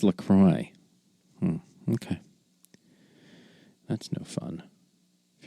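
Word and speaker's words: LaCroix: lately around Lacroy because I like to say Laqua just because it's silly. But people get incensed when you when you say it wrong. They're like, "What? It's Lacroy."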